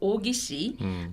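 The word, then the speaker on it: 王羲之: Wang Xizhi, they pronounce in Japanese like Ogishi, wrote its masterpiece.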